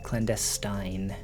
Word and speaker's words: clandestine: You've definitely heard it pronounced as though it rhymes with Stein. Clandestine.